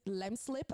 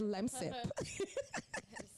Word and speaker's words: Lemsip: I've been saying lemslip all my life, and it's lemsip.